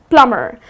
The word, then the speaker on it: plumber: The next one that I have for you is the trades-person plumber its not plumber but its plumber. So here the 'b' is silent - it's 'plumer' So the person who fix